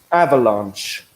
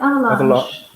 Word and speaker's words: avalanche: help with pronunciation is avalanche. Yes. It sounds a bit French, actually, doesn't it? Yes, avalanche. Avalanche. It's like massage, only it's not exactly the same thing.